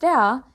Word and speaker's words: ر: Ra is not so easy to pronounce. It needs practice. Well, to pronounce Ra, you should use the tip of your tongue and this part of the gum. These two, the gum and the tongue, should hit each other's, not only getting close to each other's, but hitting each other's.